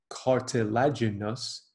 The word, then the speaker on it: cartilaginous: There are two types of joints that we classify as cartilaginous, five syllables, cartilaginous.